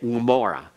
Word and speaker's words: Gomorrah: It's a narrowing of the throat. And it's almost like you're beginning to swallow, but it breaks off. Gomorrah, almost. And that's overdoing it. So when I say Gomorrah, that sound then is heard somewhat like a G.